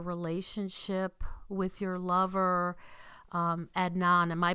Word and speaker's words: Adnan: upbringing and your relationship with your lover um Adnan. Am I pronouncing that correctly? Um I always just call him Adnan. Adnan.